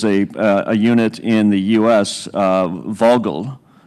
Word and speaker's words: Vogtle: unit in the U.S., Vogtle, if I've got the pronunciation right. I think it's got a strange T in there, but a silent T, that actually drove electricity